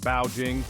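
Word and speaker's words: 报警: someone trying to break into a shop shout bow Jing bow Jing alerting anyone nearby bing bing keep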